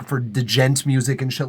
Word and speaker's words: djent: If you put a noise gate at the end, like for djent music and shit like that, I find it's pronounced gent as well.